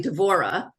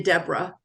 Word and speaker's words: Deborah: aunt and I am I'm actually devorah um and I'm named after an aunt and I tried so hard to be a Deborah and I am spelled the same way as as Deborah golden Steinman and one